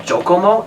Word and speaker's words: Jockomo: The web, I don't remember what the web page is, but the company is called Jokomo. It's spelled JOCKOMO.